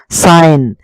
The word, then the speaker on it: sign: নাই বুলি ধৰি ল'ব ৰিজাইন চাইন SIGN চাইন যিটো একেবাৰে এই যিটো আপোনালোকে দেখিছে এইটো যিটো একেবাৰে সাইলেন্ট হৈ থাকিব সাইন এইটো ৰেইন এইটো ডিজাইন